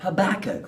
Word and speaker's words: Habakkuk: Habakkuk, whose name rhymes with cook. Cook, Habakkuk.